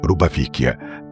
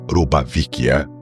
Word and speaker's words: روبافيكيا: من وقتها ديت كلمه روبافيكيا تعني عند التوانسه الملابس المستعمله لكن لو نركزوا شويه في نطق التواسه واحد ينطقها روبافيكيا بالفي والاخر ينطقها روبا